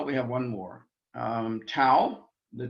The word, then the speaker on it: tau: think those no we have one more um tau the t sang sound tau is our next